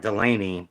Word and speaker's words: Delane: Delane is like Delaney, but it's without the Y. It is spelled with an E.